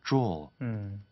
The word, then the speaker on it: drawl: 자, 그 다음에 drawl, drawl, 그렇죠? 앞에는 유사하지만 뒤에 R 사운드가 없으니까 draw 이런 식으로 이제 발음이 되는 거죠.